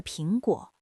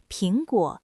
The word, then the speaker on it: 苹果: 你听，平和平发音是一样的。